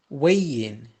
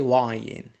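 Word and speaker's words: weighing: from the left side weigh in don't say why in wei yin notice here h is silent have got the money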